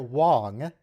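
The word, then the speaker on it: Wang: gotten in track apparently garrett wong pronounced with an o sound thought that um or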